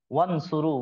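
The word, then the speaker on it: وانصروا: बीच में अलिफ है तो यह अलिफ साइलेंट है पढ़ा नहीं जा रहा वन सुरू वा को डायरेक्ट हम नून से मिला रहे हैं वन वन वन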